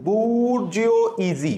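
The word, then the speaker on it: bourgeoisie: সেটা হচ্ছে বুর্জিও ইজি। Actually বুর্জিও ইজ সঠিক উচ্চারণটা এটা হচ্ছে মধ্যবিত্ত পরিবারের অবস্থাটাকে বোঝানোর জন্য আমরা বুর্জিও ইজ ব্যবহার করি।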